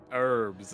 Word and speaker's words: herbs: Herbs. Without the H. Herb. Motherfucker said herb. Herb. Herb Dean. That's what they are. Herbs. No way. Yeah, Herb Dean. Don't say the H.